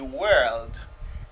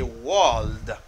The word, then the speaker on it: world: say work, you say world. And this world, people make mistake. They say world. It's not we are the world, it's we are the world. Most are prononcé comme world.